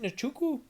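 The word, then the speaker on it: Nzechukwu: taking on daniello marquez is it nachoku nachuku i think it's inchoku my bad i've reverted there to my old pronunciation i always got to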